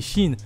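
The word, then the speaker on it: Qin: alors oui petite parenthèse je viens d'apprendre que keane se prononcer en fait chine du coup à partir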